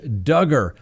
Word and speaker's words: Duggar: docket yes that's right josh duggar rhymes with hugger how much time is